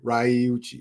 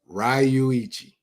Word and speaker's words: Ryuichi: Hold on, let me Ryuchi, right? Nope. Ryuichi. That's closer right there.